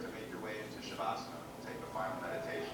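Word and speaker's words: Savasana: My favorite would have to be the Shavasana when we do it again.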